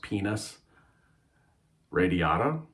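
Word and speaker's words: Pinus radiata: this um penis this wood is is called pronounced penis radiata hello and welcome to the very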